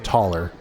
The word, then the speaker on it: Thaler: Hey, there's Thaler. It's taller. Oh yeah, taller. We didn't spelled say your name wrong.